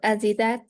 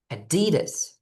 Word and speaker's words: Adidas: Uh, Adidat. Oh, for some reason you make a like between your teeth sound in this word. It's adidas. Il Addidus. Adidas.